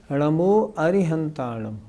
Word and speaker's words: नमो अरिहंताणं: नमो अरिहंताणं लिखा है इसका मतलब सबसे शुद्ध उच्चारण है नमो अरिहंतानम अच्छा यदि हम अरहंत